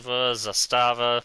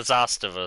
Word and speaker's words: Zastava: Zastava. Oh well. I've always called it the Zastiva.